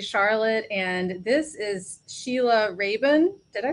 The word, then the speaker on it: Rabun: young at unc charlotte and this is sheila raven did i pronounce that right raven correct you did good yay um her presentation